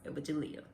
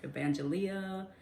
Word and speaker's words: Evagelia: of people can't pronounce Evagelia. That was my mother's name, so a lot of people would mess up her name. They would call her Evangelia and all kind of other stuff, but she would the